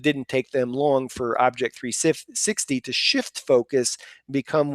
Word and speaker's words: OBJEK 360: And then rounding up the nominees for the MSP of the Year, Alexander Dabaka, his company Object 360. I'm giving you the American pronunciation, but it's actually spelled OBJEK 360.